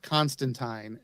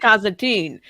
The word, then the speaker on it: Constantine: he's it's actually the it's actually pronounced constantine and uh like wine but people don't pronounce